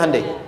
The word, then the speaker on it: Hyundai: bikin Honda sini hundai Hyundai kan dibacanya hundai kan sana Honda sini hundai